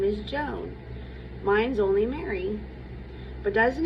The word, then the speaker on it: Joan: Joan is spoken all in one syllable, to rhyme with own.